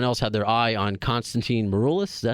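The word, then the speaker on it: Constantine Maroulis: some reason, someone else had their eye on Konstantin Maroulis. Is that how you say his name? Mm-hmm. I should know how to pronounce his name because he's going to be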